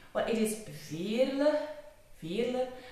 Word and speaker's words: Veerle: Well, it is Veerle, not Veerle, like the French, or not Veerle, like the English-speaking people, but it is Veerle. It is a very Flemish common name.